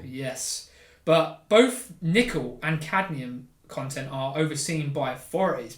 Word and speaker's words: cadmium: Cadmium. Cadmium. I never pronounced that.